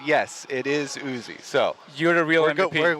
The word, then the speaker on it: Uzi: And because there has been discussion on how to pronounce Uzi, yes, we did get confirmation from player management that that's what he likes to call himself.